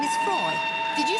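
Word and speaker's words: Froy: By the way, my name is Freud. Did you say Freud? No, Freud, not Freud. Freud. I'm sorry, I can't hear you. Freud rhymes with joy.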